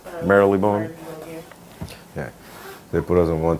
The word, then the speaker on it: Marylebone: Yeah, Obi had put us in one temporary rental on Old Marylebone. That's how you say it? Marylebone, right? Marylebone.